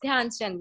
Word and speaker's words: ध्यानचंद: Okay, O यस yes, Nishant, you are correct, you are correct, it वाज ध्यानचंद, sorry I pronounced the name incorrectly, sorry, it's ध्यानचंद.